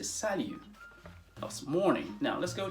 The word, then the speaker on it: salut: as well which is salu notice that the final t in this word is not pronounced it is not salute it is salu it's almost as if